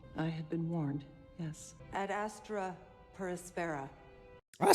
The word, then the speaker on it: Ad Astra per Aspera: position one day I had been warned yes at Astra perspara I said it right to the Stars through